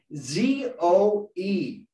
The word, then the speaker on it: zoe: that called zoe uh remember the woman's name zoe that's how it's spelled z-o-e zoe which means spiritual life